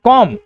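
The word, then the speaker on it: comb: वहीं इन्हें पढ़ते हैं कॉम। देखिए ब नहीं होता।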